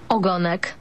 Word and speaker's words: ogonek: Ogonek.